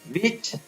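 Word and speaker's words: which: What, when, where, विच, वाई, विट, वाइट, whisper, will, वीज।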